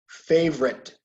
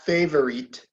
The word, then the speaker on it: favorite: Favorite. Okay. No, not favorite. Favorite. 2 syllables.